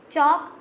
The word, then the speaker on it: chalk: In first one G is silent, gnat, gnat, no, and then you will see tongue, UE is silent, chalk, L is silent, whistle, T is silent.